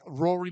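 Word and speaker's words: Ruaridh: And Rory Malikica is expected to play Tommy Maximoff. So, and I did pronounce his name correctly there as opposed to how it's spelled.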